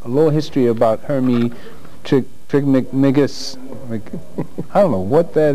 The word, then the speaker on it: Trismegistus: Pronounce it for me, please. Trismegistus.